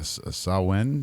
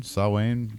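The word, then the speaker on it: Samhain: you want us to so they call it uh sawin sawwain sorry is i guess the technical pronunciation irish i'm american and we do like phonetically and stupid yeah we say things wrong sam han that's what we do i've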